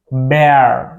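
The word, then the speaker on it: Bär: That is bear, bear. Yeah, bear. That is like in English beer, that we see like in the wildlife, right?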